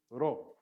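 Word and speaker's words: rho: Now, I am not very good at rolling my R's. If you are, go to town on this one. You can roll your R's. The Greeks will roll their R's, but you can either just say Ra or Ra, or you can say Ra.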